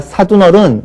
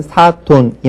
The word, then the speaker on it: 사돈: 그 다음에 우리가 사둔어른 이렇게 얘기를 하죠. 우로 발음합니다. 그러나 이것도 역시 한자 본음을 따라서 물론 이제 순한글이다라고 얘기하시는 분들도 있는데 어쨌든 사돈이 맞겠고요.